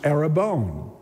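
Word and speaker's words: ἀρραβών: into Greek it's spelled in Greek and it's pronounced arabon but it's actually a Semitic word it's in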